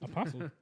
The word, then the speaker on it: apostle: Apostle. Apostle. But no T. T is silent.